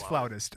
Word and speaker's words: flautist: Is that how you say it? A flautist? It is flautist.